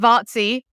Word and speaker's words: Vaci: My surname is Vaci, which I'm sure will be written somewhere. Yeah. So it's pronounced Vaci, just because nobody can ever pronounce it.